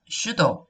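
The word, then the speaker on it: pseudo: 해서 이음이 없다 자 이거는 이름이 주도 다 p 묵음 이구요 슈도 가 들어가면 갑작스 a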